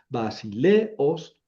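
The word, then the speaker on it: βασιλέως: Aquí no es diptongo porque son dos vocales fuertes. Entonces, vasil os el acento queda donde quiero que la que que se pronuncie el acento. Vasileos y du otra vez el sonido u y magoy.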